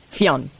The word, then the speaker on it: Fionn: So first of all, Fion's name, the way Fion spells it, is an Irish name that's pronounced Fionn.